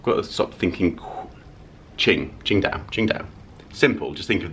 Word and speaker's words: Qingdao: Qingdao. Qingdao. Qingdao. Do we have the correct pronunciation of your name?